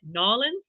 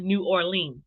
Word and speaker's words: New Orleans: do you say it Nolan I want to make sure I'm standing right I know it's not New Orleans it's like knowledge um so and maybe